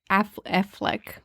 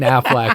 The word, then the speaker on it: Affleck: hype right before fandom ben affleck affleck well at least you're not saying aflac anymore would you like to